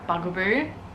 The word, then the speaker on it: Bugaboo: was looking at the i said it wrong in the video last video so many times what is it bugaboo i said bunga though i think but um